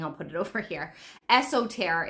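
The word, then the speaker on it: Eostre: Esoter is, I think, how to pronounce it.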